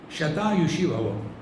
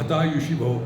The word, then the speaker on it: shatayushi bhava: But in Assam language, sha is uh pronounced as ha. Aham. They don't say Assam. Ha. So sha becomes ha. What do you live for? Hatayushi bhava.